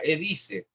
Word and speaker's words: Edyce: Vean una página de una empresa que se llama Edice. Se escribe EDYCE. Edice.cl.